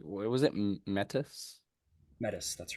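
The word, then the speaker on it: Metis: I'll I'll say his name was it mettis mettis that's right m e t i s mettis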